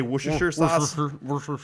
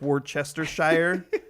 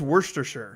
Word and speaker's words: Worcestershire: of it like how nobody really knows the right way to pronounce worcestershire sauce you just kind of say worcestershire but if you read the label on the worcestershire sauce it looks like worchestershire and nobody says it that way and i have no